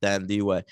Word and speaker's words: Thandiwe: no, but she used to be Thandie Newton, and then she was like, "Fuck it, I'm not gonna, whitewash my name for you. I'm gonna go full on." Oh, That's how you say it? yeah, Thandiwe.